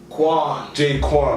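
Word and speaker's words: J-Kwon: I don't know how to pronounce his name, but I think it's J Known. Fam. J Quan, that's it.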